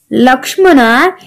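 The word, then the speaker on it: Lakshmana: Rama, लक्ष्मणा, यू can call it एज लक्ष्मणा और लक्ष्मण.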